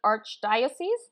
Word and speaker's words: archdiocese: within the local Catholic Archdiocese did I say that correctly that is how you say diocese okay gay shaking the entire